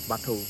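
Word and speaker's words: Batho: त्यौहार है या किसी भी दिन किसी भी बाठो पूजा होता है हम लोग का साल में एक बार क्या नाम है इसका बाठो बाठो स्पेलिंग क्या है बाठो बाठो का spelling B ए टी एच ओ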